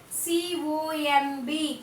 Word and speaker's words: comb: C-O-M-B, comb. C-O-M-B, comb. Here the letter B is silent.